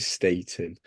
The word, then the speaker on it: Staton: it so but it we do we do try and pronounce it Statin but yeah no great